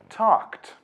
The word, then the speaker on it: talked: While talk and laugh end with k and f, so the ed is pronounced t. Talked.